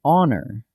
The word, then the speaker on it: honor: An hour, because the H is silent, so it starts with an ow sound. An honor, same thing.